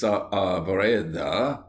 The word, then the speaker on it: Saavedra: At Lepanto, Miguel de Cervantes Saavedra, please pronounce the A's separately, was about 25 years of age and was lying below deck, sick of a fever.